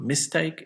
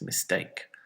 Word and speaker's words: mistake: hotel it's Hotel and it's not mistake its mistake percent report machine it